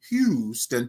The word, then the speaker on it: Houston: notice if you notice when I say it right I say Hugh right like H Houston Texas right right now hou